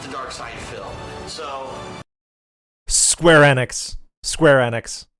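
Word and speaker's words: Square Enix: Dark Side fil so square enex square enex always Square enex that's how the people from Square enex pronounce it like whenever you hear them at like press briefings they say square enex and whenever you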